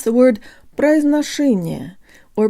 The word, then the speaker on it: произношение: guys, today you'll learn how to pronounce the word произношение, or pronunciation. Think of the phrase, put a sock in it.